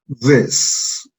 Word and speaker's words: this: Entonces, si sumamos los tres sonidos de la palabra this, tenemos Z, E, S, this. Noten que no es una I, lo que estoy pronunciando aquí. No es una I, es una... Este sonido es un E, this, this.